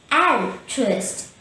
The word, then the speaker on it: altruist: contrary to an egoist in the word interest we have three syllables and true ist the stress is on the first syllable and so say al trust and trust remember an